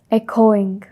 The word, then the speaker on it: echoing: No, it's echoing. Echoing. No, echoing. Echoing. First syllable accent.